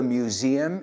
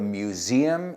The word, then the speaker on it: museum: Would you mind to tell me where the museum is? Y fijaos en la pronunciación. Museum. Museum. Hay un sonido z ahí por medio.